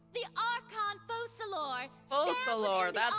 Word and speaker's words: Focalor: So long as I, the Archon Focalor, Focalor, that's how you pronounce that.